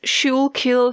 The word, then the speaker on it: Schuylkill: We have West Schuylkill Herald, Tower City, Pennsylvania. If I mispronounce it, I'm sorry.